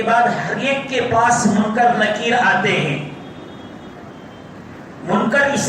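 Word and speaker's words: مُنکَر: پہلے اس کو استعمال، اس کا تلفظ صحیح کر لیں۔ لوگ منکر نکیر کہتے ہیں، منکر نکیر نہیں ہے، منکر آپ کے زبر کے ساتھ ہے، منکر نکیر۔ حدیث کی کتابوں میں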